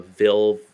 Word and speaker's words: Ville: think uh let's see uh the new uh Ville fellow that's how you say his name uh